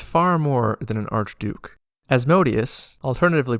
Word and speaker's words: Asmodeus: Asmodeus, alternatively pronounced Asmodeus, is content for people to think he's an archduke.